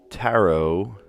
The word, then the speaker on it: tarot: so off the bat I see a bunch of words that have a silent te in them like rapor debut tarot monster all of these have well I guess psycho has a silent p in it but that